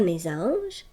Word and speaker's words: mésange: Pour la lettre S dans le losange et la mésange, lorsque tu lis ces mots, la lettre S fait le son Z.